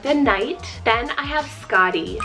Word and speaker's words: Skadi: Then I have Skadi, spelled S-K-A-D-I, Skadi.